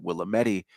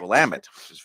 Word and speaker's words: Willamette: not from the area you might pronounce it Willa Medi week because you don't know how to pronounce Willamette Willamette yeah everybody that moves to Portland says the Willamette River yeah I don't think